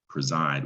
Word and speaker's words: preside: from the the root preside which is a verb that means to lead and that s and preside if you listen to it that makes a z sound preside and the reason is